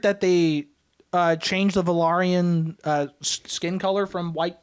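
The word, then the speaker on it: Velaryon: cuz like coralus uh is that's how you pronounce valarian yeah corus valarian he's a sea snake yeah um also you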